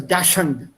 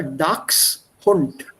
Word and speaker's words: Dachshund: Dachshund. Yeah, people here mispronounce it as Dachshund. It's not a Dachshund, but it's a Dachshund.